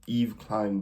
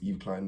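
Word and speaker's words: Yves Klein: blue is called um Eve Klein blue Eve like Eve Saint Laurent yo look at you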